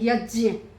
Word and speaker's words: यज्ञ: स्वामी क्योंकि जो ये जिसे हम ज बोलते हैं ना उत्तर भारत वाले यह ज और य से मिलकर बना है इसका सही उच्चारण है यज्य क यज्ञ का स्वामी